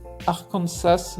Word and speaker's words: Arkansas: Cependant, la prononciation française du mot, avec l'accent sur la dernière syllabe, a été conservée.